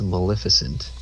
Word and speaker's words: Maleficent: But yeah, so the word is Maleficent. The reason I pronounce it like a dummy is because of the way it was pronounced in the movie.